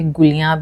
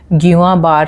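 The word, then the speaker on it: Guillain-Barré: pronounce नहीं किया है बहुत सारे लोग इसे गुलियां भी कहते हैं लेकिन जितना मैंने समझा है इसके बारे में इट इज गवा बार सिंड्रोम यह एक न्यूरोलॉजिकल डिसऑर्डर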